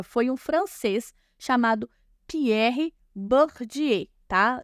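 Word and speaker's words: Bourdieu: um francês chamado Pierre bourdiei tá se pronuncia bordier mas se escreve boa de eu tá certo o que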